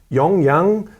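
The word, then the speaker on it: Yonge: bike but it's it's pronounced well how you pronounce it but it's young young it's why oMG yawns yawns yawns okay on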